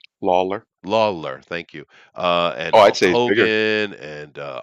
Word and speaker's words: Lawler: know lawyer a law lawyer how do I pronounce his name Lawler Lawler thank you uh and uh Undertaker you know